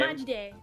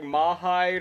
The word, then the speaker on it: Majidday: How do you pronounce the first part of your name? Oh, my like my username. Yeah, your username. Majidday. Majid day. Okay. I didn't know if it was Majid or if you if it was like Mahide or some pronunciation like that, so I just say.